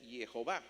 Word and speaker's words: Jehová: el nombre de Dios, que en hebreo así como está no dice nada, pero cuando uno le añade las vocales que no están ahí mostradas se pronuncia Jehová.